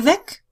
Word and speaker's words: Weg: So to put it all together again, if the three-letter word WEG in German means the way, then you pronounce it with a long E, Weg. If it means away, you pronounce it with a short E, Weg.